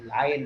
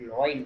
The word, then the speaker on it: lion: Now, the word is lion actually. It's not loin as you are pronouncing it, Right.